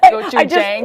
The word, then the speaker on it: gochujang: Is it gochujang? Yes, that's how I pronounce it.